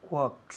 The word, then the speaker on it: walks: I know where he walks. Walks. Muy bien. Hay una L, pero no se dice.